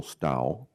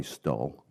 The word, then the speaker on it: Stow: Stow, rhymes with owl. Western Pennsylvania is known for having a lazy mouth. Here in Portland, I go by Stull.